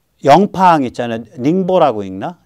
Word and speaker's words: 닝보: 닝보라고 읽나? 닝보.